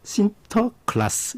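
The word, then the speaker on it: Sinterklaas: 네덜란드 사람들이 와가지고 그 네덜란드로 산타클로스 성리 클라우스를 뭐라고 발음 했냐면 신터 신터클라스 이렇게 발음을 했 그게 이제 영어로 들어오면서 산타클로스가 된 거죠 진짜 지금까지 30년을 살면서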